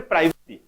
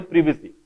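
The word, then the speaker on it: privacy: so that निजर गोटे प्राइवेसी उच्चारणटा भूल ब्रिटिश इंग्लिश माने प्राइवेसी कोनती बट एक्चुअल उच्चारण होची प्रिवेसी मन रखिलो तो लेखा स्पेलिंग मन अछि तो ना नहीं PRIVAC उच्चारण होबो प्रिवेसी ठीक अछि प्रिवेसी ए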